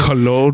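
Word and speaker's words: Colón: I had to look it up, and for anybody listening, Cologne. The origin of the country of origin for colon is Spain, so I assume Cologne. But it's spelled colon.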